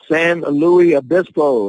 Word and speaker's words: San Luis Obispo: 6 & 7 2019 San Luis Obispo and the reason I know how to say this because I live there it is utopia a